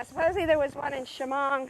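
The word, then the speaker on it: Shamong: us know yeah supposedly there was one in shimon not too long ago so that is how you pronounce it i always thought it was sheamong and at sign there's some people called accion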